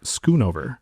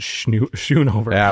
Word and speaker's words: Schoonover: Welcome to the show, illustrator Brent Skunover. Thank you so much for having me. It's an honor, dude. I always try to pronounce it Shunover every time I look at it.